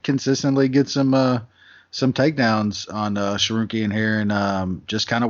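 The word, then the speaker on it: Tsarukyan: Taking on something called Arman Sarukian. I think I got that right. Sarukian, yeah. Harukin? Oh yeah, it should be Sarukian.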